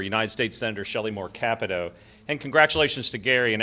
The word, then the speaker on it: Capito: Capito.